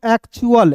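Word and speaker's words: actual: एक्चुअल यानी कि अल के रूप में उच्चारण करेंगे।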